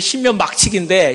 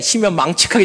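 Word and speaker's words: 신묘막측: 어떤 사람이 잘못 발음하기를 신묘 막측인데 신묘 망측하게 졌다 그러는데 하나님께서 여러분을 정말로 신묘 막측하게 정말 세상에 하나밖에 없는, 정말 저는 제 마음속에 그렇습니다.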